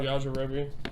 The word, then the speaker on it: Yajirobe: It's spelled. Is it Yajirobe? Yajirobe. Yeah, Yajirobe.